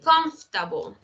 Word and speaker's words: comfortable: No es confortable, comfortable, es comfortable. ¿Por qué eso está de adorno?